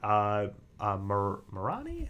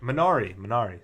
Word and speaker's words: Minari: His movie, Marani? How do you pronounce it? Minari, sorry.